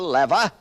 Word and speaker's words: lever: the six simple machines the lever or some pronounce it the lever the incline plane the